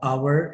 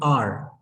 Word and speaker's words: hour: yes, we pronounce it R. Instead of hour, we say R. And we don't say a hour, we say an hour, because the sound matters more than the alphabet.